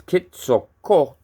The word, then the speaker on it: Quetzalcoatl: They give you a pronunciation for Quetzalcoatl, which is Quetzalcoatl. Court. It's like a KW quote.